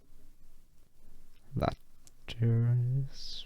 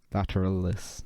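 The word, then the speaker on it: vastus lateralis: Lateris, something like that, I think. Lateralis, not lateris.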